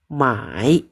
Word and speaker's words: 买: Ini bacanya mai, beli ya.